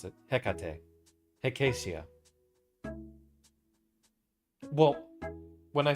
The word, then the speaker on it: Hecate: I think it should be a hard H for, Hecate is how I pronounce it. Hecate.